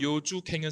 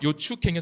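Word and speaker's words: 楊紫瓊: 이 미셸 요주갱은 사실은 민남 방언의 요주갱 이 소리입니다. 그래서 중간에 CHO는 사실은 추가 아니라 주입니다. 실제 발음. 그래서 요추갱은 사실은 잘못된, 그러니까 원지음과 일치하지 않는 표기라고 할 수 있고, 두 번째 예사 소리로 대응시킨 것도 잘못됩니다.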